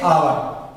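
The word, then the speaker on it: hour: अब वहीं पे आते हैं, देखिए ओ के पहले हमें एच साइलेंट रहता है, तो देखिए आवर, इसमें देखिए एच का उच्चारण में करना है, इसको हमें आवर पढ़ना है, आवर।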